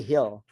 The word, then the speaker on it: Gil: say it right actually you say Hill so that's how you pronounce it yeah g i l